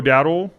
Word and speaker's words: Dowdle: Rico Dowdle, is that how you say his name? Yeah.